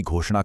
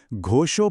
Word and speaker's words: घोषो: सबसे पहले घोषो बोलते समय जो श है वह मूर्धन्य है। यानी आपकी जीभ तालू को छूनी चाहिए। फिर धारत राष्ट्राणाम में आ